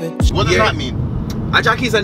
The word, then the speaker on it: Ajaki: Ajaki is a name. Ajaki is like basically Jackie, right? Yeah. But in a locally pronounced.